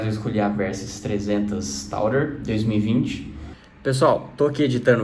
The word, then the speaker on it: Tour: Então é simplesmente eu aportuguesei a palavra, mas saibam que a pronúncia correta não é Tourer, e sim Tour, Versys X300 Tour.